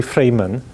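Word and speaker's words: Freiman: Well, he's still alive, and I think the original pronunciation is really Freeman. So this, I forget whether he was in Moscow or St. Petersburg, 1966. So Grigory Freeman.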